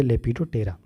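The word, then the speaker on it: Lepidoptera: Libido, P नहीं पढ़, पी को साइलेंट पढ़ते हैं, पढ़िए लेपिडोप्टेरा।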